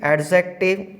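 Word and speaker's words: adjective: इसमें एक चीज़ का जरूर ध्यान रखना, इसमें एक रूल्स है कि यदि ए और जे के बीच लेटर डी आता है तो वो जो लेटर डी होगा वो हमारा साइलेंट होगा, तो इसका जो प्रोनाउंसिएशन होगा करेक्ट वो होगा एडजेक्टिव। तो यदि हम एडजेक्ट को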